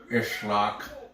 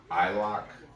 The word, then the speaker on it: Isloch: But I think you can say it like island, Isloch, like the S is silent.